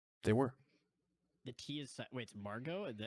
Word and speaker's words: Margot: were the key assignments Margo is actually yeah Margo Margot Robbie freakin put there I mean it is silent I know anywhere first